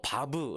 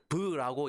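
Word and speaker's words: וָו: 라고 하는 아 뭐 바브 라고 읽고 바보 아니고요 바브 또는 부유하고 있는 히브리어 단어는 모든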